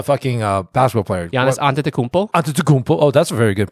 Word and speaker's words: Antetokounmpo: Antetokounmpo. Oh, that's a very good pronunciation.